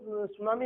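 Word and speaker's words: tsunami: और वो सुनामी एक जापानी वर्ड है ना, ये जापानी वर्ड है टी सुनामी, टी कैपिटल इसमें साइलेंट वर्ड है।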